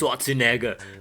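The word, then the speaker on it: Schwarzenegger: a stars a n-word it's pronounced swazinaga but you can call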